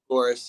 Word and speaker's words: Fagoris: I just don't know how to say it. Fagoris. Is that right? Fagoris? Fagoris, yep.